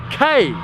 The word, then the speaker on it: kei: over the yellow number plate means it's a kei car and it's pronounced cave not key okay okay and what makes these things appealing